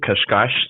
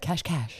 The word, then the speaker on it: Cascais: Yeah, I'm in Portugal, Cascais, just 30 minutes outside of Lisbon.